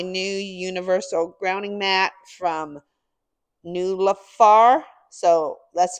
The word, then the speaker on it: NIULAFR: opening up my new Universal grounding mat from new lafar so that's spelled n i u l a f this